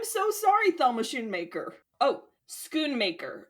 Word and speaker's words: Schoonmaker: Oh, Schoonmaker. It's pronounced Schoonmaker.